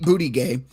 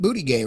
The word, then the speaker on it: Buttigieg: Transportation Secretary Pete Buttigieg, who has faced criticism from lawmakers over the mayor. I don't know how to pronounce his name. Do you? It's Pete Buttigieg, right?